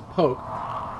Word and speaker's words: Polk: Good Vibration shop on Polk Street which some people pronounces poke the sex shop owners